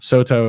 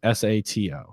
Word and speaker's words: Sato: Soto is Sato.